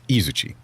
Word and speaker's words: Izuchi: And I keep on saying Izuchi, but it's Izuchi. The stress is on a different syllable.